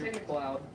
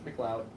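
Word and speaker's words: McLeod: Yeah, that's Mloud. Camlo, you can't call people Cam Mcllo. Can't do that. In what universe is L E O D pronounced load? In what universe is it pronounced loud? Scotland.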